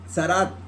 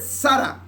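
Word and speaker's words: צרעת: esa misma en hebreo, que es simplemente Sara. Haz de cuenta Sara, el nombre de Sara, pero con Z y al principio una T. T-Z-A-R-A. Sara. Haz de cuenta el nombre de Sara, ¿sí? Pero es con Z, con TZ. Sara.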